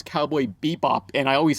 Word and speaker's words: Cowboy Bebop: I still get comments saying, "Hey, that's not how you pronounce Cowboy Bebop," and I always say Cowboy Beep Boop.